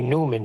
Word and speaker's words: Neumann: I re-listened to that video and George Harrison does pronounce it like you. What, Neumann? Yes, I was pronouncing it wrong. I was pronouncing it the way it's spelled. We say Newman here.